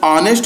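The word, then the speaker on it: honest: यहां परस ऑनेस्ट है pronounce ऑनेस्ट हो रहा है आ आ रहा है इसलिए यहां पर आपका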